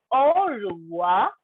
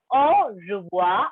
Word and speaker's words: au revoir: Au revoir. I am not saying au revoir. No, I am not pronouncing r there. Instead, the pronunciation I am using there is ja.